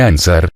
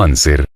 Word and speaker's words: anser: la historia de ansar no se dice ansar sino anser clamaba prono pero el